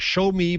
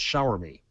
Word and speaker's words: Xiaomi: he pronounced the company he said it's like show me but it's shower me shower me shower me shower me there was an R sound in there um did you guys